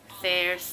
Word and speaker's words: Thayers: Pakinggan natin kung paano i-pronounce. Thayers? Thayers? Thayers naman pala.